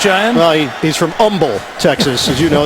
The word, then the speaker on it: Humble: Well, he's from Humble, Texas. As you know, the H is silent, Dan.